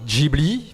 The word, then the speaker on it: Ghibli: Seconde Guerre mondiale, c'est-à-dire donc Ghibli, prononcé à l'italienne, qui désigne en fait un vent du désert, un vent sec, qu'on appelle aussi le sirocco.